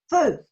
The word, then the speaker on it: feu: Because my pronunciation is horrible. I think it's like feu, something like that. Can you help me? Feu.